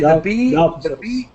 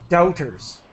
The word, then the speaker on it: doubters: Sorry, doubters. the B is silent. So really, Yes, it's just like the word out, doubters.